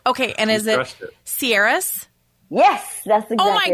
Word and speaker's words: Ciares: wrong but like right okay and is it sieras yes that's ex oh my gosh okay javanka